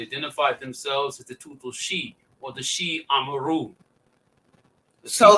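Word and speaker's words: Xiu: Sheep. Okay, educate me. Yes. The people identified themselves as the Tutul She. The XI is pronounced she, as like SHE.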